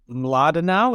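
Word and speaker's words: Mlodinow: I think it's Mladenau.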